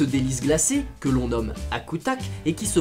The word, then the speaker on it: akutaq: spécial et ce délice glacé que l'on nomme à coutach et qui se prononce ce good luck est un mot yupeek qui signifie quelque chose